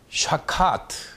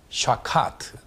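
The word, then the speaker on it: שחת: 이 동사는 히브리어로 샤카트, 이렇게 발음을 합니다. 샤카트.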